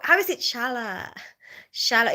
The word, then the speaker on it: Charlotte: So then, Mommy, repeat after me. Shala. Shala. But in Filipino it's like Charlotte, Charlotte. Where did all the letters go? How is it Shala?